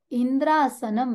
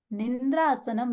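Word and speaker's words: इंद्रासनम्: मांगना था इंद्रासनम देही, इंद्र का आसन मिले, और मांग लिया निंद्रासनम देही। छोटा सा अक्षर का हेरफेर हो गया।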